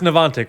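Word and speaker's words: Niantic: supposed to say it say it again it's nanic we're good ntic boys um sick City well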